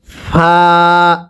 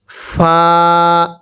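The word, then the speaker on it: ف: এরপরে ফা শব্দটা ফা। ফাটা উচ্চারণের সময় আপনার ঠোঁটের মাঝখান থেকে একটা বাতাস বের হবে।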